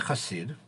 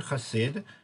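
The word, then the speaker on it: חסיד: um that the word hasid people when you properly describe hebrew um the word khasid can also be pronounced hasid and they mean two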